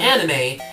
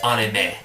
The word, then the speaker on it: anime: It's not anime. It's anime. It's not that bad.